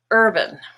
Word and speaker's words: urban: becomes first breakfast and think of the word bam black now in the word urban earth is purple the stressed part and band becomes urban here are some other